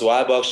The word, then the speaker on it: WiBox: i saying it right is it we or why why box no it's why box just like wi-fi wi-fi i love it so